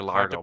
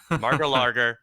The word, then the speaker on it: Mar-a-Lago: He met with a Brazilian diplomat at Mar-a-Lago or Mar-a-Lago. Hard to Margalargo, pronounce. Margalargo. Mar-a-Lago.